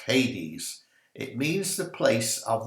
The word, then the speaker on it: Hades: or 80s a-d-e-s but usually pronounced hades it means the place